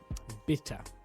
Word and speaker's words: bitte: is please but it's it said like the word bitter like a beer bitter bitter I hope I've got